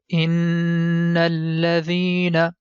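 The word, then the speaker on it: إن الذين: Whenever you see letter Noon is appearing in green color and it has shadda sign, that time we have to stretch the connection and sound becomes in. And this sound we have to do for 2 seconds.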